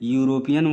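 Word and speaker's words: European: यूरोपियन ए यूरोपियन में यूरोपियन word का शुरुआत किससे हो रहा है ई से हो रहा है जो कि वावेल है लेकिन यूरोपियन का उच्चारण य से हो रहा है यूरोपियन तो इसलिए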